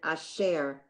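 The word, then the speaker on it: אֲשֶׁר: It just shows that there are two syllables in the word, share, and it shows that you would pronounce that asher, that it stresses on the second syllable.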